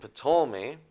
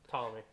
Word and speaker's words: Ptolemy: and a Levite, and Ptolemy, his son. Ptolemy. Just Ptolemy. You don't have to pronounce the P. Yeah. You don't have to pronounce the P. Yeah, that's a silent P.